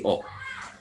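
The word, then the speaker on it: を: Ini dibacanya nanti bukan wo tapi o.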